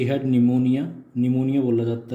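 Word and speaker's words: pneumonia: सी हैड निमोनिया, निमोनिया बोला जाता है इसको, निमोनिया प्रोनाउंसिएशन है इसकी.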